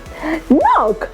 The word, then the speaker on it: knock: KN right so again letter K is silent here we have to ignore that letter and we have to pronounce it directly from letter N KN what about this one knock right this is knife